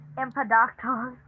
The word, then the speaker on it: Empedocles: Empedocles.